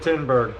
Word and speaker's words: Tinberg: John Tinberg, that's right, I said Tinberg. Turns out I was saying his name wrong all this time. I know the correct pronunciation now, so we won't make that mistake again.